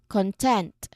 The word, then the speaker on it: content: So we are going to stress the second syllable here tent.